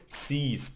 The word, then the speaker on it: siehst: So you pronounce it du siehst. So it's a long I.